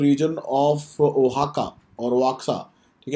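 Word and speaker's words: Oaxaca: minister reference तू D reason of हक और वाका सा ठीक है वहां का प्रोनाउंस करते हैं हम इसको एक्स इस प्रोनाउंस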